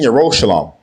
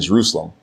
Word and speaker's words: Yerushalayim: In Mount Seon and in Yerushalayim, which are mispronounced as Zion and Jerusalem, will be deliverance, as Yahweh has said.